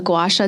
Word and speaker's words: gua sha: I still use it, but I ended up getting a gua sha tool.